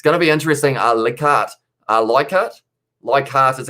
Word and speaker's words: Leichhardt: Leichhardt is how it's pronounced, says Ed.